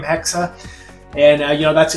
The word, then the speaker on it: Hexe: if you want to pronounce it, you would pronounce it in a h e k- sa hexa, which is a German word for witch. That's what the German word for witch is, is hexa.